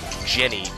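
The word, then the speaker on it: djinni: how positive are you because I'm guaranteed Genie is g-i-n-i-e and it's DM it's the uh like English bastardization of the word Jenny d-j-i-n-n-i is the original well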